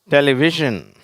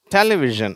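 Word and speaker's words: television: இருக்கும் இல்லையா அந்த பழம் டெலிவிஷன் டெலிவிஷன் சரியா அல்லது டெலிவிஷன் அந்த முதல் சிலபலையும் ஸ்ட்ரெஸ் பண்ணலாம். அந்த வி அப்படிங்கிறதும் சில பேர் ஸ்ட்ரெஸ் பண்ணி உச்சரிக்கிறாங்க அடுத்தது டிரான்ஸ்போர்டேஷன் டிரான்ஸ்போர்டேஷன் அப்படின்னா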